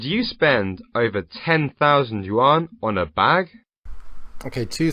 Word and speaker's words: yuan: spend over ten thousand yuan on a bag okay two things the guy reading this is probably Chinese so why he pronounces the currency as Yan I don't know the